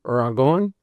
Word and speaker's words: Dragon: And yeah, so a friend of mine back in Colorado, name is Ragon, but you spell it dragon.